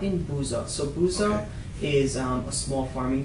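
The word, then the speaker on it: Busza: She was born in a small town called Buzza. It's spelled B U S Z A S Z A.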